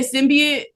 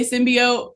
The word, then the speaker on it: Symbiote: So, people say it differently like uh some people say symbiate. I say symbiote. So, I call it symbiote.